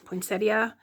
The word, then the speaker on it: poinsettia: And this kind of reminds me of a poinsetta. Poinsettia. I say poinsetta. I know it's spelled poinsettia, but it kind of reminds me of um poinsettia with the with one of the petals folded forward.